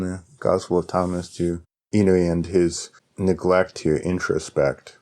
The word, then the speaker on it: Inui: Is that how you pronounce his name? Inui, yeah.